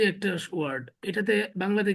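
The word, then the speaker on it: ب: এরপরে দেখেন, এই যে একটা ওয়ার্ড, এটাতে বাংলাতে কি বলে? ব, ইংরেজিতে বা। বি। বি। ইংরেজিতে বি এর যে উচ্চারণ, বাংলায় ব এর যে উচ্চারণ আরবিতে বায়ের সেম উচ্চারণ, বা জবর বা, বাজের বি, বা, বা পেশ বি, বু, বাবি বু।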